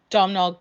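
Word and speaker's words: Domhnall: mcadams incredible always uh domino gleeson that's how you say his name yeah don't always think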